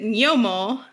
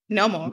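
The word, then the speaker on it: gnomo: that are tuning in as i pronounce it and my argentinian spanish is written as g-n-o-m-o right g-n-o-m-o so i pronounce it nyomo and ugo you pronounce it no more correct normal yes yes right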